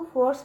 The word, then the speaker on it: force: तो यहाँ पे बच्चों सी जो जो ई है बच्चों यहाँ पे ई साइलेंट है, ठीक है। तो अब देखिए इसकी मीनिंग होती है बच्चों, इसको फोर्स पढ़ते हैं, ठीक है, इसकी मीनिंग